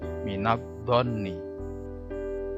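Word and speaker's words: مِنَ الظَّنِّ: Ini adalah bacaan alif lam syamsiyah atau idgham syamsiyah. Cara membacanya masuk ke huruf berikutnya. Alif lamnya tidak dibaca, masuk ke huruf dhot.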